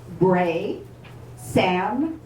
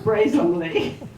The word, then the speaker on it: Broesamle: And so he wrote it out for me, and he said it's 3 syllables. Broesamle. Bray like a donkey, Sam like our uncle, and Robert E. Lee.